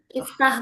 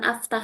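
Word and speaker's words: اِفْتَحْ: Kalau ini dua ini baik yang ain fi'ilnya kasrah maupun fathah tetap dibaca kasrah jadi iftah bukan aftah ya iftah.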